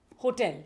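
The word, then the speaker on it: hotel: Next word is होटल। हाँ, this is होटल। इसमें H silent है। H silent, yes, होटल।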